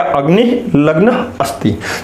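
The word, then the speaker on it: अग्निर्लग्नोऽस्ति: इसको ध्यान में रखिएगा, मैं कई बार बता चुका हूं, ये अवग्रह चिन्ह है, इसका उच्चारण अ का करते हैं, ड भूल के भी मत पढ़िएगा। अग्निर्लग्नोस्ति तोड़ के पढ़िएगा, अग्निर्लग्न अस्ति।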